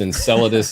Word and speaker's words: Enceladus: a fairy tale but the thing is it's pronounced enceladus is the is the myth and that's a